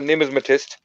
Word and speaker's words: numismatist: Yes, I am also a numismatist, and coin collection is one of my passions.